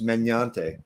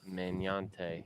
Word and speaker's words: Magnante: The G is silent, so it's Magnante. Magnante.